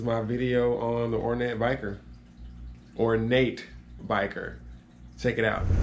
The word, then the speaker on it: bichir: I said or knit repetitively but it is pronounced ornate biker or Bashir dinosaur however you want to use that term